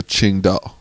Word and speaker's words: Tsingtao: t AO sorry and but pronounced more of a qingdao there's a kind of like a Q and a D qingdao this is from this